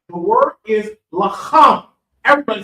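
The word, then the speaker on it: לחם: Okay, all right, the word is lacham. Everybody say lacham. Lacham. Lacham. Look, lacham. Lacham. Okay? It's almost like it's clearing that throat. Lacham.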